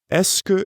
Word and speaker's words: est-ce que: Est-ce que is made up of three words. Est-ce que. Since est-ce que is such a common phrase, it's usually pronounced est-ce que when it's said quickly. Notice the difference.